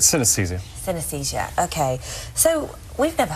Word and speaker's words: synesthesia: Jamie Ward to explain his condition synesthesia did I pronounce that that's correct synesthesia synesthesia okay so we've never heard of this